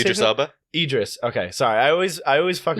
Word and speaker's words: Idris: Idris.